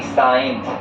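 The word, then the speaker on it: science: यानी कि बाद में एस के बाद में अगर सी आता है तो यहां पे सी साइलेंट हो जाता है।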